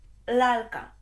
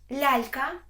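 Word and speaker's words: lalka: літери лато лато і лалка лалька тепер послухай як неправильно вимовляти лялька бо це по-українськи лялка по-польськи тобто ця буква трохи твердіша ніж м'яке лі л лято лялька якщо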